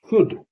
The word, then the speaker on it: should: SHOULD, शुड, शुड माने चाहिए।